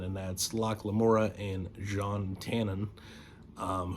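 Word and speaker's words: Jean Tannen: that's lock lamora and John Tannen um who hilariously I pronounced as Gene the first time I read it before I had listened to the audiobooks and it is John uh speaking of the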